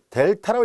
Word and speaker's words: 델타: x가 3이 아니고, 그리고 x-3의 크기가 요 델타라고 읽습니다. 이거는 이제 읽을 때 델타라고 읽고요.